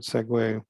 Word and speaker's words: segue: like sequel sequence and segway that's how you pronounce that word segue like you know segue from one part of a play act one to act two or in a joke from one joke to another you segway um but because it has the word non